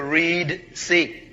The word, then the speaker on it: Reed Sea: So God led the children of Israel by the desert road toward the Reed Sea. You pronounce it red, it's actually Reed Sea, where reeds grew.